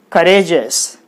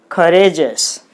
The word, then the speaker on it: courageous: So if the word is ending with E-O-U-S, the stress should be on the second syllable from the last, according to the fifth rule.